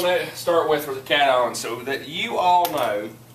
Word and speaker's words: cation: I look at that, I'm just gonna say it like cat on. I got you. It's all good. Okay, cation.